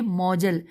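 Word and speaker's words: مؤجل: معجل۔ پھر دوسرا ساتھ ہی لکھا ہے مہر موجل، میم واو جیم لام۔ پھر ہے مہر مطلق،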